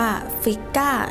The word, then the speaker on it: Frigg: ของ โอดิน ก็ คือ เทวี ฟิก หรือ บาง ครั้ง ก็ ออก เสียง ว่า ฟิก้า เทพี แห่ง ความ เมตตา